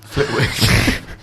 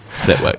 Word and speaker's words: Flitwick: You don't pronounce the W, it's silent. Flitwick. Flitwick.